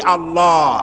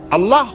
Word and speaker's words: আল্লাহ: বোধ নিশ্চয়ই মনে আছে আল্লাহ এই উচ্চারণটা আমাদের অনেকের হয় না কেউ বলে না আল্লাহ আল্লাহ পাকের উচ্চারণটা হচ্ছে আল্লাহ পাকের নাম হচ্ছে আল্লাহ মুখটা একটু গোল হয়ে যাবে বলেন আল্লাহ আল্লাহ